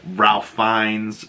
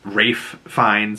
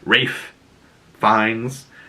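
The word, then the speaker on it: Ralph Fiennes: there was also like Ralph fines Rafe fines for the people that want proper pronunciation Rafe fines was nominated for conclave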